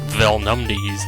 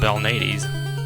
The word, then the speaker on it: Belnades: I've heard some people spell it more like Velnumdes, like Velnumdes or something, I don't know. But I'm pretty sure it's Sypha Belnades, Belnades.